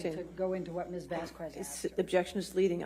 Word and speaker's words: Vasquez: produce pronounce fast cass vasquez vast quests my god that is that is murdering th that that that that beautiful last name vast quest for god's sake is vasquez vasquez let's let's let's do